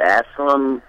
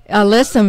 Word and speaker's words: alyssum: the west of white uh how do you pronounce that Asylum but Aslam the little white flowering that that uh oh listen listen you're talking about a listen alyssum is also a great border but it also